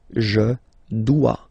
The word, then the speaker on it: dois: Okay, remember, final S is not pronounced. Je dois. OE, when you combine the two, you get the sound wa wa wa.